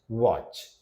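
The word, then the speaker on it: watch: टी जहां silent रहेगा जार फसन listen मैच वच यहां पर टी देख रहे हैं आप साइलेंट है ठीक है तो ये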